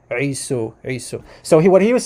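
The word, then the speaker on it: عيسو: believe that Isa comes, I'm going to use the Arabic pronunciation for the brother of Jacob, Isu or Esau. Okay, the Arabic pronunciation Isu.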